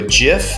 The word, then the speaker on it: gif: you those you can export it to a gif that's right kids it's pronounced gif look it up so you could